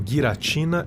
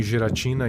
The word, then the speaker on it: Giratina: A propósito, eu sei que os nomes se pronunciam guiratina e arqueus, mas eu não tô nem aí. Para mim, geratina e Arceus são mais legal.